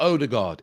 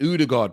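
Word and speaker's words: Ødegaard: It's not Odegaard. It's Odegaard, people.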